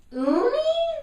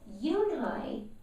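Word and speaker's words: Unhei: Uni? The girl said, scrunching up her face. Uni, said Kate Stanton. No, Eunhai corrected. It's spelled U-N-H-E-I. It's pronounced Eunhai. Oh, it's you-hey, the boy said, like you.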